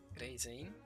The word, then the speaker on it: Reizeiin: She pronounces it slightly different. With Asa-chan just now, it was like Reizeiin, with like there's a Z in there.